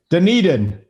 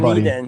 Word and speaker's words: Dunedin: You are offending so many octogenarians right now by mispronouncing Dunedin. Come on, Dunedin.